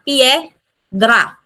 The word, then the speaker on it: piedra: So two syllable siya piedra.